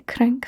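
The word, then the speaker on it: cranc: Can you say crank for me? Perfect. Perfect press on the R there.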